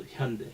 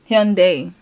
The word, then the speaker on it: Hyundai: So Hyundai. So like a Y. Hyundai. Like they d a Y. We don't pronounce I.